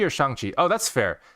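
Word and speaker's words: Shang-Chi: shanxi oh that's fair so technically it's shangqi so shang chi is the official way they pronounce it in the trailer and it's the official chinese way you're supposed to say that's his real name right and you know shang chi is the proper way you're supposed to say it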